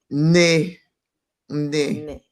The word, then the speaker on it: nne: And I'd just like to know, how do you pronounce that word? Ne, ne, Nene.